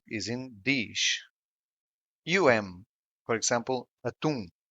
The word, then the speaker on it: atum: For example, atum, which means tuna. The stressed syllable is in tum.